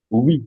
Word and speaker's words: oui: When you have U, which is the phoneme U, O-U combination, plus a pronounced vowel in the same syllable. Mark that word. You have the U sound, and there's another pronounced vowel, and that vowel added to the U make it 1 syllable. It gives you that sound.